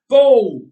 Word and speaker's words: Baal: Or in the case of those who prefer the alternative pronunciation, Bull, Bull, he can't fall. Honestly, if you're going to worship a deity, you ought to be able to agree on how to say his name.